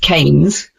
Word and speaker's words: Keynes: Keynes pronounced Kanes was a famous economist from Britain.